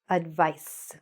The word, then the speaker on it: advice: This is how we pronounce it. Let's go to the next pair. Advise, the verb, advise, advice.